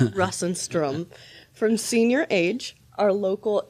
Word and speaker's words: Russenstrom: How do you pronounce it? many renditions of it, so you can't hurt my feelings. Brus Instrom. Brus Instrom.